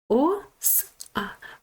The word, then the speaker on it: оса: О, с а. Оса. Бачите, наголос на букву А. Значить, оса ми читаємо.